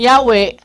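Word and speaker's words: Yahweh: Ipla-flash ko lang sa ano ang sabi po sa inyong libro while ah nakalagay inclining to view the pronunciation Yahwe as the more correct way.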